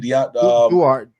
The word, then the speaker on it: Duarte: How you pronounce the last name? Duarte.